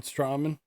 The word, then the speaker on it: Strowman: up on La Knight and that's when Braun straman came outt Braun strowman you know every timean every time you pronounce a word wrong like that I'm just